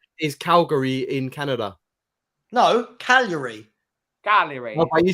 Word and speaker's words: Cagliari: No, Cagliari.